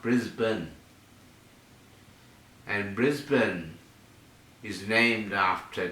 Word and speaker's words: Brisbane: The Americans call it Brisbane, and that's how it's spelt. Brisbane. It's pronounced Brisbane.